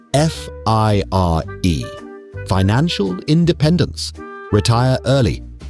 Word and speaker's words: FIRE: of schedule, as part of a movement called F I R E, financial independence. Retire early, pronounced with a completely straight face, fire.